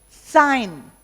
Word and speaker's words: sign: a here sanity obscenity sign the g is silent but here signature the